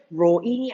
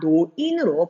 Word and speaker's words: 노인: 근데 이 리을, 늙을 로의 사람이 이 늙을 로자가 글의 처음에 첫 음절로 왔을 때에는 로인이 아니라 노인으로 발음을 한다는 거.